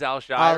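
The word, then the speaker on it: Al-Shaair: Aziz Alshshire.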